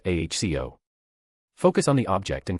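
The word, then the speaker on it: Accio: Aio is pronounced aho.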